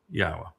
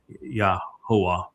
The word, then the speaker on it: Yahweh: It's um it's Yahwa in this song. And that is incorrect because the uh the yod makes an e sound in English as it does in Hebrew.